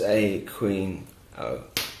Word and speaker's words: Aquino: Understanding that he pronounces a queen O.